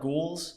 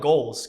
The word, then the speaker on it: Ghoulz: People call it like ghouls. I call it goals cuz I was 14. I was like looks like it's goals.